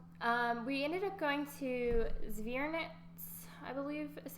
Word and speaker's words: Zwernitz: So we ended up going to Zwernitz, I believe is how you say it, castle, and the Sanspariel rock gardens.